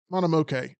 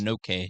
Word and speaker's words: Mononoke: Monomoke. Okay. Let's go to this. Mononoke.